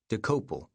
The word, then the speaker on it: Dokoupil: Main entry: D O K O U P I L. Pronunciation, decouple.